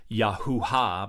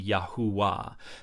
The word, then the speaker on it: Yahuah: here and so it could be yahua but it could not be yahua because you cannot have the vowel coming before the he now yahua could be the pronunciation if you have another V there that is understood as the W consonant but uh you can't